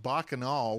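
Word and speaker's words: Bacchanal: Well, Scott, first off, it's pronounced Bakanol, which is Roman for orgy.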